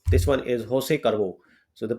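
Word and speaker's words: José Cuervo: about some famous tequila like this one is Jos carvo so the pronunciation is Jos carvo and we have the silver and gold varieties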